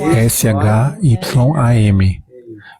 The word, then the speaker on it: Shyam: Então a primeira é S-H-Y-A-M. E outra palavra, Shyam, essa primeira é Shyam. E a segunda, Shama, S-H-Y-A-M-A. Do not put the Shama. S-H-Y-A-M. And R-S. Pronunciation different meaning.